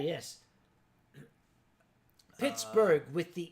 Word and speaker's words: Pittsburgh: the H oh okay Pittsburgh is not German it's not Pittsburg okay no Pittsburg would be Swedish the name was given to it by a Scott the original pronunciation similar to Edinburgh was pitb huh Pittsburg